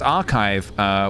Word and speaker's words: archive: I pronounced archive with the ch sound for so long until I found out it's not said like that.